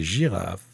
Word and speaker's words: girafe: Et girafe, on entend le son J et il s'écrit avec la lettre G. Girafe. On fabrique le son J avec la lettre J ou bien avec la lettre G avant le E, le I ou le Y.